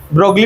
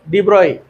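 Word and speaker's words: de Broglie: ब्रोगली पढ़ते हैं कुछ लोग इसको। ब्रोई ये जी और एल साइलेंट है। डिब्रॉय डिब्रॉय बोलते हैं उसको।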